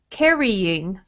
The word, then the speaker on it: carrying: Let's also say carrying. Carrying. Mm-hmm. Carrying. Carrying. Yes. So first syllable will be strong.